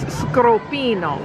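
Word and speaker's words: cioppino: pronunciation for scropino and we were saying it correct it is scropino which is italian which i find interesting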